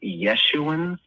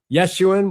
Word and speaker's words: Yeshuan: Yeshuan. Yeah. Is that how you're saying it? That's how we say it, but you could say Yeshuan. Yeshuan, whatever way you want.